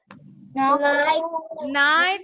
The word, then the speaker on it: night: Night, GH-nya silent.